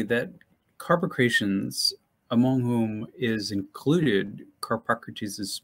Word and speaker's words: Carpocrates: an upcoming monograph about Carpocrates. Is that how you say his name? I say Carpocrates, but any way you can manage it, it's a tough one.